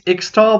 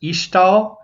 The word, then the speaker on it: Ixtal: Well, there's a couple new traits, but the other main new trait, which is, it looks like it's Ixtal, but I think it's actually pronounced Ishtal. I'm not 100% sure there.